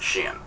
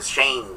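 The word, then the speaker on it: Shein: I looked it up. It's pronounced sheen. All right, so I don't want to hear Shane.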